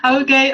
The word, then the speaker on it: Oge: Welcome, Oge. Hey, and thank you so much, for having me. So the pronunciation is Okosieme. So Oge Okosieme, but thank you so much for having me.